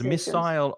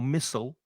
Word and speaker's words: missile: As Monica said, there are two pronunciations, missile or missile. And I just assumed that missile, which is probably what I would say is British English, but no, missile is more typically British English, and missile is American English pronunciation.